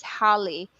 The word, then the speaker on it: Haley: Haley is actually pronounced as Holly because it's a short term for hallelujah.